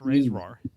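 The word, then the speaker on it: RAISERROR: Yeah, it is silly that they call it Ray's roar, but that's because there's only one E.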